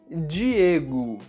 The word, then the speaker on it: Diego: Palavras que terminam com a letra O, em português, sempre são pronunciadas com o som da letra U. Alguns exemplos são rato, carro, barco e até mesmo meu nome, Diego.